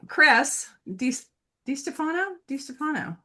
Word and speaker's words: Chris DiStefano: So Chris DiStefano. That's the correct pronunciation, yes.